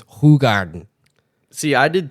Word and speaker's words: Hoegaarden: like, yeah, you know, all these Americans say Hoegaarden, but it's Hoegaarden.